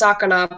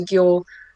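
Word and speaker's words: 魚: So if you notice, sakana by itself is pronounced sakana, but when that kanji gets added or slapped onto another kanji, it can sometimes change its sound. So for example, it turns into gyo.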